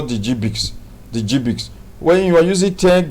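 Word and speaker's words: GBIC: The GBIX is pronounced as GBIX.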